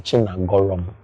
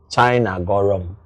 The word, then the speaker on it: Chinagorom: Igbo ị ma nghọta the pronunciation of that Chinagorom so ị ga-epronounce ya pronounce ya Chinagorom maka the CHINA spell of the China.